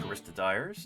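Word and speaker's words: Choristodere: The Caristodires. I've always heard it pronounced Caristodire, even though that's an E.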